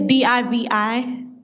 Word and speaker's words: Divi: And Divi, is that just Divy? I just want to make sure when I put it in the show notes, I'm saying it right. It's Divi.